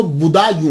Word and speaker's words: بدایوں: گے، مسلمان بھی ہیں۔ اس کا تلفظ جو ہے وہ بدایوں ہے، کیونکہ یہ پرنس بوڈا جو ہے نا اس کے نام کے اوپر اس سے یہ منسوب ہے، تو اس لیے اس کو بدایوں کہا جاتا ہے۔ لیکن بعد